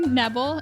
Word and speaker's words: Nebel: today we have Lindsey Nebel am i pronouncing that right yep it's rebel with an N odd that's awesome Lindsey